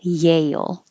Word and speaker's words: Yale: a j like jail it's the same vowel an l a you'll at the end but this one with a y yale and with a j jail five this is crazy